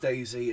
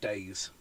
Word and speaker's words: DayZ: And it is pronounced Daisy, it's not Days.